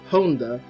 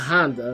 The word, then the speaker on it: Honda: note is that Tori's last name is actually pronounced Honda and not Honda like the car which I guess is also